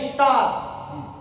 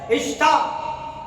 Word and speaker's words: Ishtar: The queen of baby Aka Madonna or Aka Semiramis became known as a moon goddess Ishtar. which can be pronounced as a Esther.